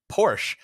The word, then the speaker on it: Porsche: my carplay video uh I believe the the snobby well it's not snobby it is the correct way to say it but I am American and we say Porsche in America for some reason but it's is it Porsche right Porsche is the correct way to say that I believe and and then